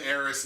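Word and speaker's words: Aerith: I gave Eris and I'm pronouncing it by the proper name Eris not that garbage era stuff like before five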